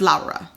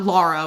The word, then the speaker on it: Laura: It's pronounced Laura. Laura. In the film. Not Laura, which is a very anglicized version of it.